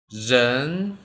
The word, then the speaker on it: 人: 人 Watch my pronunciation.